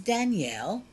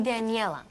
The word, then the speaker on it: Daniela: Olli, this is Danielle. She is Dade's new German girlfriend. We've met. Her name is actually Daniela. You're mispronouncing it, Mother.